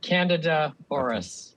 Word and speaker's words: Candida auris: How do you pronounce this? I've always learned it Candida auris.